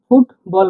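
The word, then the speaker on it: футбол: মত উচ্চারণ হয় আর উচ্চারণ করলে ফ বাংলা উচ্চারণ করলে ফ এর মত দেখুন ফুটবল ফুটবল মানে ফুটবল আমরা যেরকম সাবলীলভাবে ফুটবল ফুটবল বলি ওরকম কাজ সাবলীলভাবে বলে না তারা বলেন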